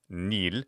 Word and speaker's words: nil: But then we'd write it N-I with a long mark L. Nil, which means exactly the same thing as nihil, nothing.